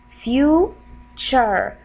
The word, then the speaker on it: future: Like for example, if I have the word future, future. This is the final syllable right here, T-U-R-E. It will give you chur sound. If we want to pronounce it in a slow way to understand how we're gonna say the word, then we're gonna divide it for two syllables. Few, this is the first part, and then chur, chur, chur, future.